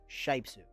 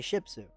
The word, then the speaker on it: Shypsu: And then a common thing that happens with his username, it's spelled Shypsu, Shipsu. That's how it's pronounced, but almost like 90% of the time, people say Shipsu because like Shih Tzu, like the dog, you know, or you